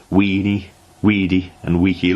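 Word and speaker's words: veni, vidi, vici: well educated construed correctly the britons however still use the old pronunciation understood him to have called them weenie weedy and weaky lost heart gave up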